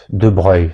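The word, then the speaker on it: de Broglie: Il y a eu l'assassine de duc de Breuil, ça s'écrit de Brogly.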